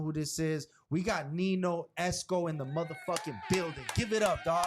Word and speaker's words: Nino: I read it that's how I read it Nino hey for people who know me you already